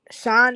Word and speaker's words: Shyne: Sean is spelled Shyne.